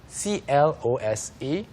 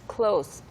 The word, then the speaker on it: close: 여기서 뭐 사소한 거지만 짚고 넘어가자면 그 CLOSE 어떻게 읽죠? CLOSE? Yes, Close. close. Close. 여기서는 가까워진, 뭐 가까운이라는 뜻이기 때문에 close이고요. When you use it as a verb, the pronunciation is Close.